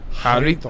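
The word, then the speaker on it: Jarritos: Is it Garritos or is it Waritos? Because they don't pronounce the JJ. Harito.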